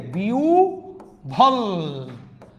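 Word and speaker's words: বিহ্বল: আমি লিখছি বিহব্বল, উচ্চারণটা অলরেডি আপনারা বুঝে গিয়েছেন, হয়ের সাথে ব ফলা থাকলে উভ হয়ে যায়, বিউ ভল, আহ্বান না আহ্বান, আহ্বায়ক, গহ্বর না গহ্বর, জিহ্বা না জিহ্বা।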